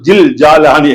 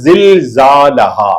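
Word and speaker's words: زلزالها: இதா ஜுல்சிலத்தில் அர்து ஜில்சாலஹா அப்படித்தான் ஓதனமே தவிர ஜில்ஜாலஹான்னு ஓதக்கூடாது, தப்பு. கொஞ்சம் கவனமா அந்த எழுத்தை கொஞ்சம் உச்சரிச்சு பாருங்க, வந்து ரொம்ப லேசு. ஜி ஜா ஜா ரெண்டு பல்லையும் சேர்த்துட்டு உள்ள வந்துடும்.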